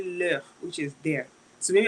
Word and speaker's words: leurs: So please note the S is silent. You don't say leurs because you want to talk about this particular one. No, it's still leur.